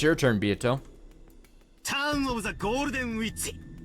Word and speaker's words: Beato: Pronounced Beato.